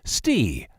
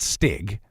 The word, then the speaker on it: Stig: a thousand years literally this fella's name is pronounced stee not stig he's not one of the rottles i suppose it's a lot like steve but without the part that would make it a regular name like if my name